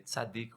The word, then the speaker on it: Tzadik: Eu vou tentar pronunciar aqui bem. Tzadik, né? T-Z-A-D-I-C. Tzadik, ou K no final, perdão.